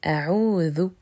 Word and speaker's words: a'oudhu: Attention, petite parenthèse, il ne faut pas confondre a'oudu et a'oudhu. Le verbe a'oudhu se prononce avec la lettre th et il signifie je cherche la protection.